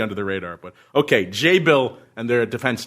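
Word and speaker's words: Jabil: task for my pronunciation I said before jabble he said it's Act jabble is a tech name and it's actually pronounced J Bill and they pronounce they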